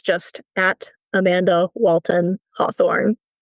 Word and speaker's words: Hawthorne: It's just at Amanda Walton Hawthorne. There's a silent E on the end of Hawthorne.